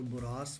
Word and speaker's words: Borås: आज की सिटी बड़ी स्पेशल सी सिटी है, इसको बोरोस कहते हैं। बहुत सारे लोग इसको गलत प्रोनाउंस कर जाते हैं और बोरास बोरास कहते रहते हैं, लेकिन बोरोस इसका सही प्रोनाउंसिएशन है। माई भी मैं भी बिल्कुल एग्जैक्ट स्वीडिश लोगों की तरह ना कर रहा हूँ, लेकिन बड़ा क्लोजली कर रहा हूँ बोरोस।